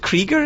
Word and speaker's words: Krieger: Is it Krieger? Is that how you pronounce it?